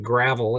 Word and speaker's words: Gravel: And the last name is spelled like gravel. It's pronounced Gravel, but yeah, it's anyway, that's a mining last name, I guess.